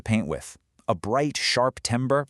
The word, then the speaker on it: timbre: Okay, this next one is really cool, timbre. And yeah, it's pronounced tam-ber.